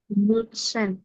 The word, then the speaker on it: Würstchen: ডাব্লিউ কে কিভাবে উচ্চারণ করবেন আপনি? বি এর মতো, ভি এর মতো।